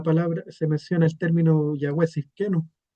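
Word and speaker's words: יהוה צדקנו: Entonces aquí esto se pronuncia Yahweh Sidkenu, o Yahweh nuestra justicia, como se traduce.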